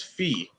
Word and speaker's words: Fee: Oh, Fee. nice. And Fee, I saw your message in your Nice. Henshin video. I am pronouncing your name right today. It is Fee.